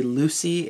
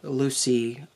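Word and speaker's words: LWCY: name of the creator it's l w cy so it looks like it should be Lucy except it's LW Lucy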